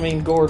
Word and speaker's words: Gourd: It rhymes with, Gourd rhymes with Lord.